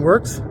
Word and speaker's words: Werx: Studio Engine Works, and Works is spelled W-E-R-X. I had to be different for some reason, but I like it.